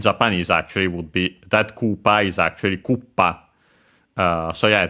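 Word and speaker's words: クッパ: Yeah, accented, by the way, the term, the dish, on the first syllable, Koopa.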